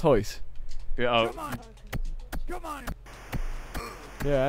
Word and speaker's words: Royce: You know, it's spelt Royce Gracie, but it's pronounced Hoyce.